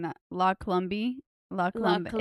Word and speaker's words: La Colombe: La Colombe. La Colombe. Colombe. It's definitely La Colombe. I don't think you pronounce the E.